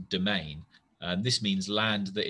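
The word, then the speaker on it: demesne: got a word that looks like it should be said domesny but is actually pronounced domain and this means land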